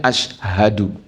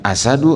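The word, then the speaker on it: أشهد: ada Tuhan selain Allah dibacanya Ashadu lamun dibacana asadu Alla ilahaillallah wa asadu Anna Muham Rasulullah Hartina teu nyambung macan bahwa teu Aya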